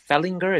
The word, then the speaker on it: Fehlinger: I pronounced your last name Fehlinger. Is that correct? Yes, absolutely correct. Thanks for the invitation. Okay, perfect, Mr. Fehlinger.